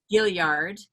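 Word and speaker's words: Gaillard: e tanky you're the artist-in-residence emeritus at the guy yard center am i pronouncing that correctly gilliard Gilyard you know which is there in Charleston you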